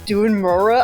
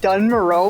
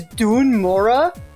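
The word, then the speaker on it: Dun Morogh: never noticed that the the way that this place is pronounced is Dun Mura. I've been saying it like Dun Maro my whole life. It's Dun Mora.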